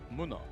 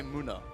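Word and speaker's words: Munna: a play with oh I I just call it Muno it's I would say Muna I think it's yeah but that's the German pronunciation I can let you off on that one it is muna it's Muna just for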